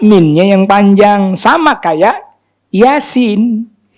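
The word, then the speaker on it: يس: Sama kayak Yasin. Ya-nya 2, sinnya yang 6.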